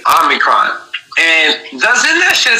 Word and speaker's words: Omicron: they put, they were saying it was Omarion, but in reality it was Omicron, you dumb fucks, go back to language arts, or go back to fucking writing and learn how to spell or pronounce shit, but it's called Omicron.